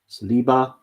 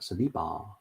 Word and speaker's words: Saliba: Saliba. Why do I say it like that? Saliba.